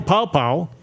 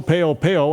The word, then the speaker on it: Paopao: And now Joe Paopao, calling plays. I used to call him Joe Peo, and I didn't know how to say his name.